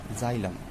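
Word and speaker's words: xylem: अब इनके वर्ड को देखिए, जाइलम, a word which is pronounce like as a Hindi word is जॉ।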